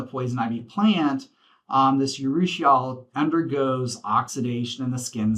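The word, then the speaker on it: urushiol: so we have this thing called um uh it's spelled u r u h i r l yusal it's a toxin that's found in the poison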